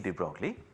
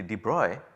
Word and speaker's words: de Broglie: Well, the correct pronunciation is apparently de Broglie, but then I am not good at pronouncing European names, I will just say de Broglie.